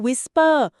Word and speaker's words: WSPR: บ WSPR ที่ อ่ า น ว่ า Whisper Weak Signal Propagation Reporter ใ ช่ ไ ห